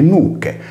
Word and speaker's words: nuce: Ad esempio, per l'italiano noce abbiamo il latino nuce, ablativo singolare, che si legge nucche, come nel norese, mentre nel logudorese lo